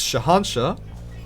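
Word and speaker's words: Shahanshah: was spazzing out on how to pronounce this this weapon's name right it's shahansha right i'm not going to get told otherwise all right i don't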